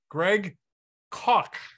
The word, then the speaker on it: Greg Koch: We're here with Greg Koch. Nicely done. Perfect. Bakert's a German last name, you know. Rhymes with chalk.